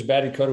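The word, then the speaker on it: Batty Koda: Yeah, he was Batty Coda.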